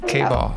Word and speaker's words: K-Ball: K-Ball rhymes with ball.